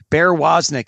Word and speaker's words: Woznick: And I don't know his given first name, but he goes by Bear, and his last name is spelled W-O-Z-N-I-C-K. So it's just like it sounds, Bear Woznick.